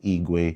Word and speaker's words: Igwe: So it just caught on like Igwe. I'm like, oh, okay. That has a ring to it. So I was like, okay, Desert Igwe. Kind of makes sense. It still kind of rhymes with the eagle.